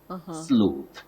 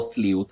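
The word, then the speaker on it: sleuth: about the plural form it has two acceptable pronunciations what we call the alternative soundings one slth sluth then you can also say SLE so sluth or sleth are acceptable just like issue or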